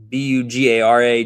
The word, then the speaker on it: Bugara: Buggera. Bugar. Buggera. B U G- A R A Jr. All right. Final bet of the season is a it's Bugara. You got Bugara.